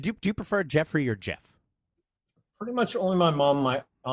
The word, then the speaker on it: Geoff: People think that, but the name's actually pronounced Jeff.